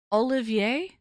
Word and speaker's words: Olivier: How do you pronounce it? Olivier. Olivier Olivier salad.